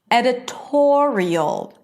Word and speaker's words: editorial: Editorial. And notice that in all of these words, the stress is on the one syllable before the suffix, right?